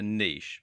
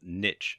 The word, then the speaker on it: niche: to do is to choose a niche, or niche as some people pronounce it.